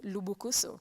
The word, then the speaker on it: Lubukusu: bukusu but now uh the original pronunciation of bokusa is lubukusu i don't even got that right it's lubukusu yes the because of